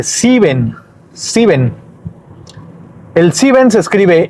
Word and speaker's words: sieben: Sieben. Sieben. Y aquí en sieben, la I con la E, va al revés. Aquí es IE, no EI. Es diferente a los demás ejemplos, a los demás números.